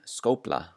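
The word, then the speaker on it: skófla: So it sounds like a P before the letters L and N. So here are some examples. The first one, skopla, skopla.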